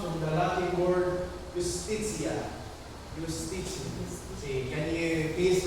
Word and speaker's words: justitia: Justitia. See, can you please pronounce it?